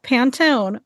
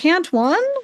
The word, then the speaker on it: Pantone: What teacher does not know how to say the word Pantone, by the way? When she was like, Pant one? Everybody knows to say how the word Pantone. Come on.